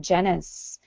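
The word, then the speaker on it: Genuis: Stephen Janis and Genesis spelled g en I us it's almost like genius but not quite dr.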